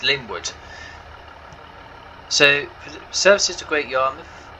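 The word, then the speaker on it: Lingwood: great yarmouth fire linford lynnwood excuse me it's linwood so services to great yarmouth after here we'll call it linwood and echo and i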